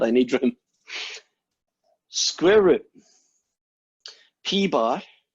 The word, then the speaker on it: P bar: Now, this thing is not P hat, it's called P bar. That's how you say it out loud.